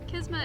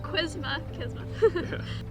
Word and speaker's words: Qisma: kisma all inward Facebook kisma is spelled q i s m a not quisma we're really excited for